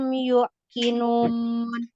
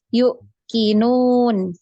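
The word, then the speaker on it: يوقنون: Tadi bacanya yuk kinun. Harusnya yang benar Yuqinun. dibaca panjang ya.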